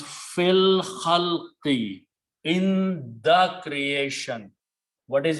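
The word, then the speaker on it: في الخلق: When you pronounce, you do not pronounce alif, it becomes hamzatul wasl. So it becomes fil khalqi, in the creation.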